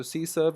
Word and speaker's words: CSRF: the next is the CSRF which is called mispronounced SC surf so c surf is a way of